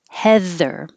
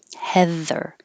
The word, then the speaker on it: heather: it there cotton butt heather the vowel is e as in head the same as leather and feather heather creeped the e d